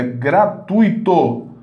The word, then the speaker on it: gratuito: não existe hora e a palavra não é gratuita gratuito gratuito sílaba tônica é a penúltima essa sílaba tônica né